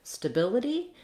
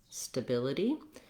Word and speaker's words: stability: to get that pattern same pattern in the word stability we also have second syllable stress and the only difference is that i have a stu sound instead of just an uh sound so the same practice will help you trying ability stability um and yep that's